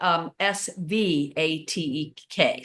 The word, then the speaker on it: Svatek: Back in the Svatek country, yeah. in Czechoslovakia, I'm sure that's correct. I mean, it's spelled with a V, but you pronounce it with the W.